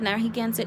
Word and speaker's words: Narragansett: oligarchy in 1978 the nahigansit tribe it's um it's spelled in here narragansett that's the way uh europeans call uh say it and spell it uh traditionally it's called nahi gansit so if you hear